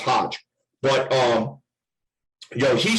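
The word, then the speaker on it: Hoge: who i understand i i think it's actually pronounced hodge but um you know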